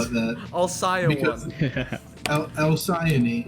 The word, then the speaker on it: Alcyone: the Alki one, right? No, I wouldn't call it that. Alcyon Because- one. Alcyone is the correct pronunciation.